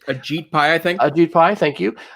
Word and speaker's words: Ajit Pai: Ajit Pai, thank you.